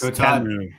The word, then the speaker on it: Temu: How do you say Temu? And apparently I'm wrong and Todd is right. So I want to make sure we get that out there early. It's Temu, T-E-H-M-U.